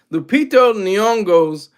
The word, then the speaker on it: Lupita Nyong'o: Same way I loved Lupito Nyong'o. I said her name wrong. Said her name backwards. Lupita Nyong'o's performance in Us.